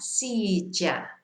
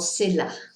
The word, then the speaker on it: silla: So it's more of a ja sound. Paella, silla. But what you mustn't say is paella or silla, you know. So either ya or ja is fine.